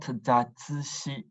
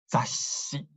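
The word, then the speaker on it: ざっし: It's not zatsushi, it's zashi.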